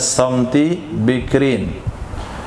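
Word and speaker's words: صمت بكر: Atau kepada samti bikrin, bacanya samti bikrin.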